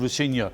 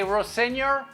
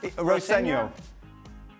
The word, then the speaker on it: Rosenior: Well, his and when Liam was playing, he was called Renior and he never piped up. Then the voice message I got was from his dad saying how to pronounce it properly.